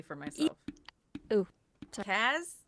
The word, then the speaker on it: Kaz: Kaz, not Kaz. Microphone Kaz. is free. Think like Cassie, like that kind of Cassie. like Thank you, Kaz with the Kaz. K-A-Z. Okay.